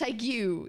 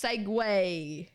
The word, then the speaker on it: segue: thought it was this, it's not pronounced segue. It's pronounced segue.